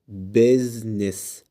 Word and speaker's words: business: business. جرب تنطق الكلمة التالتة كده لوحدك وشوف هتنطقها ازاي.